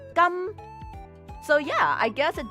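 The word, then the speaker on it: 金: And in Cantonese, gold is pronounced gam.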